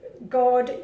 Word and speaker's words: god: And remember, when you see God, Jul, God does not mean God in Danish. God, you pronounce it go, means good.